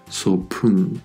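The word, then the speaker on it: 소풍: Cuando piu está delante y en medio de palabra, se pronunciará fuerte exhalando aire. Pal, pal, que hemos dicho que significa brazo. Y sopun, sopun, que hemos dicho que era excursión.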